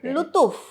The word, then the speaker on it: Luthuf: ஆமாம், எக்ஸாக்டா எப்படி ப்ரொனவுன்ஸ் பண்ணணும் உங்களோட? லுத்தூஃப். லுத்தூஃப் கரெக்டா? ஃபுல் நேம் கூட வேண்டாம், லுத்தூஃப்னு கூப்பிட்டா போதும்.